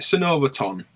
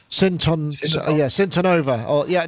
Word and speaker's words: Syntonova: So the original, is it Synovaton? I think Matt butchered the name. Syntonova. You're right. Syntonova.